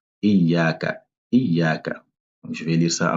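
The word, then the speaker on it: إياك: Il faut prendre le temps de bien prononcer le shadda. Iyaka.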